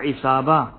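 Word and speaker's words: عصابة: है वो गले को घेर लेता है, या इसाबा, ऐन स्वाद अलिफ बे ए, इसाबा, जब इंसान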